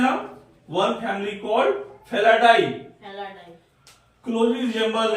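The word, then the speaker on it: Felidae: और इसे क्या कहते हैं हम, फेलिडी। क्या कहते हैं इसे, फेलिडी। स्पेलिंग क्या, फेलिडी क्या होता है, F-E-L-I, हाँ F-E-L-I D-E, D-A-E, F-E-L-I D-A-E, इसे क्या कहते हैं हम, वन फैमिली कॉल्ड फेलाडाई।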